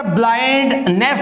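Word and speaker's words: blindness: अभी देखिएगा, तो ये कहता ब्लाइंड नेस नहीं है, ब्लाइंडनेस है, यानी कि नस है, नस, ब्लाइंडनेस, इट इज ब्लाइंडनेस ऑफ his father because he इज not paying attention to his faults.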